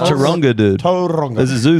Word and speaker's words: Taronga: there is another one which Taranga is actually pronounced you got to have a I think it's pronounced Taronga, dude.